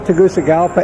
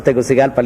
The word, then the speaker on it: Tegucigalpa: business neighborhood okay two things that first spell Tegucigalpa and second you said something about micro something